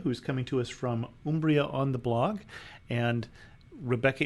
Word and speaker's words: Umbria: And so the U is always an U in Italian, and so it's Umbria. But we accept Umbria as well.